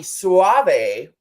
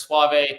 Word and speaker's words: Soave: Robby Soave.